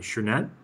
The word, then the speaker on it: Chernet: Just Chernet says, by the way, thanks for pronouncing my name correctly. Chernet? I like your name. I've never come across that name before. Seems easy to pronounce. What do people normally say? Chernidi?